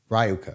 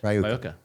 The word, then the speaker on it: RyoKah: name of the entity, as far as and pronounce, is Rioka, right? No. Yeah, that's right. Rioka.